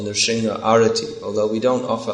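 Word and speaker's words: Nṛsiṃha: Although, like I say, almost everywhere in ISKCON they sing Narasimha Mahadev. Why? I don't know. But we should Nrsimha Mahadev.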